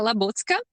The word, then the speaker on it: Labucka: a dot j or alexandra dot j dot labouka am i pronouncing your last name correctly in my language it's uh la botska okay i love that okay so l a